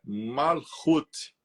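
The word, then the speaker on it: Malkuth: 10 que nós escrevemos o nome dela é macut mas a pronúncia é malut essa cfra quer dizer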